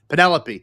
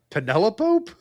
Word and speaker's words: Penelope: It's Penelope, but pronounced like cantaloupe. Penelope.